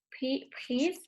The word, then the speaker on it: pris: Prise. Pris. La S no se pronuncia.